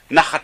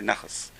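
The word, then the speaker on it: נחת: I shouldn't say nachas. Give your parents pleasure. You just help your parents spiritually. Nun, chet, taf. Nachat. Because they pronounce taf, saf. So nachat became nachas.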